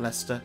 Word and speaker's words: Leicester: deer are sacred creatures said to have protected Leicester since time immemorial I am so happy that they pronounced in Leicester and not Leicester which a lot of non-english